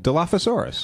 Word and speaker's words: Dilophosaurus: So Dilophosaurus in English, in the English language, that's usually with the F sound, PH.